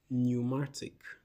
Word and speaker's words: pneumatic: This is pneumatic. Pneumatic. The P is silent, not pneumatic.